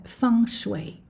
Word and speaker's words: feng shui: è scritto feng shui e la pronuncia fans way e proprio perché diciamo